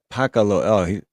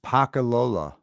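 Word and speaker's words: pakalolo: Pacalolo. Pacalolo. Oh yeah, Paca means cigarette and Lolo means crazy. So crazy cigarette. So what is it? Pacalolo.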